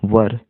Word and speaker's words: were: वर, देखिए वर, WERE, वर, वेयर नहीं, वर।